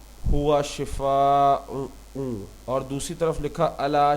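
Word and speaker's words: شفا: है मौत गड़ा किनारा लोग अक्सर कहते हैं अल्लाह आपको नौजुबिल्लाह शफा दे यह दुआ नहीं बल्कि बददुआ है हमें कहना चाहिए अल्लाह आपको शिफा शिफा शिफा दे हवाला यह कुरान हम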